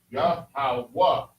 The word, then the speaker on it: Yahweh: Because in Hebrew, each letter has its own pronunciation. Yahweh.